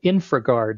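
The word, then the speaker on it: InfraGard: has a program called InfraGuard, and it's infra like infrastructure, I-N-F-R-A, and then guard is spelled G-A-R-D.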